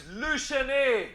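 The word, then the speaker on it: Le Chesnay: Here in Lachesney, hey, how do I pronounce this? It's Luchene.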